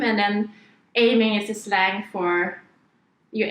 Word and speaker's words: Aim'n: No, it's pronounced Aimin. Aimin. But actually it's English incorrect because English is not our first language, so we started off to put an N because aiming comes from the word aim, and then aiming is